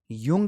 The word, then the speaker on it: Jung: आज हमने बात की युंग की स्पेलिंग में जरूर आता है लेकिन पढ़ते समय इसको यह पढ़ा जाएगा योग पढ़ा जाएगा का या इसके बाद